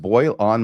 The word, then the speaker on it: Boylan: It's pronounced Boyle on my ass.